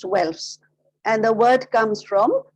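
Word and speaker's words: Guelphs: Now, the Pope's supporters were called the Welfs. It is spelled with a G, but it is pronounced Welfs.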